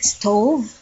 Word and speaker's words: stove: at the stove area so we call this stove stove so remember the V some of us will pronounces pronounce it as B we also call